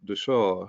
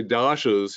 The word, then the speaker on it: Dasha: able to catch myself the Sanskrit is actually pronounced the saw um The Shaw so um you know